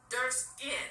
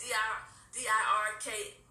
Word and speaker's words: Dirksen: He had to go to Senate Minority Leader Everett Dirskin. Somebody told me I was pronouncing it wrong. It's Dirksen.